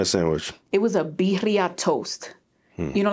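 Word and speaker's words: birria: had in this extra I don't mean bira I mean bira because it's two RS and it's in Spanish you married to a Puerto Rican you should know how to roll your RS you didn't need to add the but that's how you say it sounds like a money machine it's not bira it's bira I'm so done all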